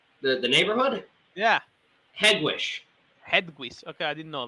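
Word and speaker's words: Hegewisch: how do you say the the neighborhood yeah headwish headquarters okay i didn't know that yeah head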